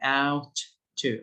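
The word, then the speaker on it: ought: let's start with shoot by the way gh are silent g and h are silent in the second word so we say out to ouch ouch l2 the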